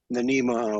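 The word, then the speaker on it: NMEA: it's basically putting out it's actually pronounced NEMA 2000 messages as opposed to the NEMA 183 like you know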